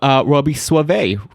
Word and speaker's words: Soave: Today we have Robby Soave, right? Did I pronounce it right?